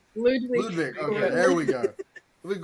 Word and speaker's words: Ludwig: I don't think I've ever actually heard it pronounced, Ludwig. But it's Ludwig.